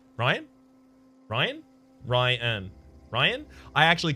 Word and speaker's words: Ryan: Ryan is pronounced 1 syllable, pronounced like Ryan.